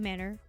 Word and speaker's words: manor: A manor pronounced just like the things you're apparently raised without. Whoa. Manners.